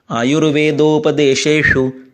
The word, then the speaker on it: आयुर्वेदोपदेशेषु: अभी इसमें श और श दोनों एक साथ आ गए। आयुर्वेदोपदेशेषु विधेय परमादरः।